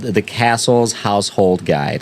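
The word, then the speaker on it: Cassell: They actually published a book in the 1860s called The Castle's Household Guide. And it's spelled C A S S E L L. It's Castle Peter and Gaplin.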